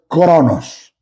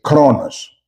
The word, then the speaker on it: Chronos: Primero tenemos el Chronos. Se escribe K R O N O S. Chronos.